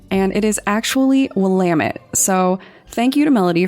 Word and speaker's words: Willamette: out on Instagram and actually send me the pronunciation for the river that the body was found in. I said Willamette, and it is actually Willamette, so thank you to Melody for helping out with that one.